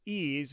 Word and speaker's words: EEAZE: hosts her own podcast called ease it's spelled e-e-a-z-e where she shares stories